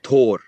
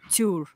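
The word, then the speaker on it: tabhair: So let's hear the Ulster way. Tor. Tor. Tuur. Tuur in Connacht Irish. Tuur. Tuur in Munster Irish.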